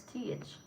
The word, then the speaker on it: Teach: I pronounce it well. It's not tech, it's Teach.